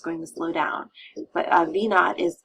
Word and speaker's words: V naught: looking for and that is measured in feet V naught this V with a little zero part of the variable itself again we pronounce it V naught point naught e that